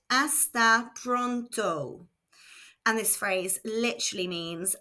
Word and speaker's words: hasta pronto: Hasta pronto. Again, the H is silent, so this is pronounced hasta pronto.